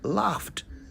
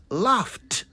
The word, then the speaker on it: laughed: all of us say laughed don't we well the correct pronunciation is laughed laughed the last letter takes on the T sound instead of the D sound so laughed not laughed